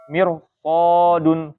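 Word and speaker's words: مرصادا: Jadi ro-nya sukun didahului harokatnya kasroh ya. Tapi setelah ro sukun itu ada huruf-huruf isti'la, maka dibacanya tebal. Misalnya di sini ya. Mirso, bukan mir ya, tapi mir ya. Mirsodun, karena setelah ada ro sukun, ada sod. Sod itu termasuk huruf istilah. Jadi mirsodun, mir ya.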